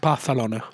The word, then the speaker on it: Barcelona: And it's pronounced Barcelona. Barcelona. I'm told. I don't want to correct you here, but you have to put the lisp in, right?